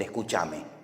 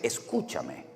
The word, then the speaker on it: escúchame: españoles no hicimos escuchame en español no existe el escuchame es escúchame o escuchadme no salí no se dice